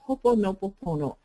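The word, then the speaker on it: Hoʻoponopono: The accents on the first syllable.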